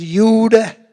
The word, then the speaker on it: Jude: If you were in France, If I pronounce it right, it was Youth. If you were in Germany, it was Jude.